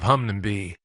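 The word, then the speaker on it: Hunmanby: close to flicks tin by the name of Hungnam be if I pronounced it right hopefully that is in the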